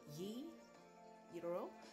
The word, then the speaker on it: gyro: food in many parts of the world giro pronounced yi euro in greek comes from the greek word the